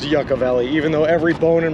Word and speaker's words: Yucca Valley: a hard time the Yucca Valley I've been told it's pronounced Yucca Valley even though every bone